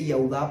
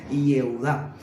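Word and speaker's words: יהודה: Hoy modernamente no se dice Iaudá porque la gramática hebrea moderna no permite que se diga Iaudá, sino Ieudá.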